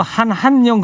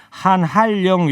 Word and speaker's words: 한한령: 그리고 한한령 그렇게 읽는 게 아니고요. 네. 한할령 이렇게 한할령. 발음해야 돼요.